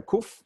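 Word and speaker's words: קוף: Some people call it kof, some people call it kaf. I'm sorry, kuf, not kaf. We learned kaf. This is kof or kuf.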